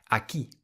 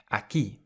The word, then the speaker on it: aquí: Aquí. Aquí. It means here. Aquí. And you'll see that there is an accent on top of the I, so you emphasize that part of the word more. Aquí.